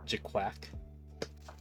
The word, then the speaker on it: GQuuuuuuX: It's pronounced as GQuuuuuuX.